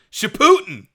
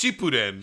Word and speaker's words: Shippuden: is that you say sh putin man i'm watching shipputin right now wait how do you say it is it not it's it's no it's shippuden she put in she